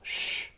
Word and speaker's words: je: Yeah, it's not like je anymore, it's sh. Ouais. Je prends un verre. And it's not a rule, it's just more of a tendency.